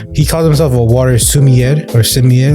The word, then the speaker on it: sommelier: He calls himself a water sommelier or sommelier. How do you pronounce this word?